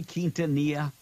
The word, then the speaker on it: Quintanilla: You can't say Quintanilla? Quintanilla. Really? Quintanilla. Now, is that the way you pronounce?